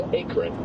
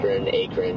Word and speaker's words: Akron: that is the first time I've heard it pronounced Akron, I have to say. Yeah, somebody just corrected me here as well. Yeah. So apparently it's Akron, you know, whatever.